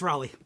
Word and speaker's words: Raleigh: saying it correctly let's is it is it Raleigh yes it's Raleigh okay excellent you've been touring all up and